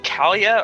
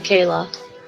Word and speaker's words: Kayla: bond yet oh so is your name Kalia or Kayla you could call her K but it's actually Kayla and that's how you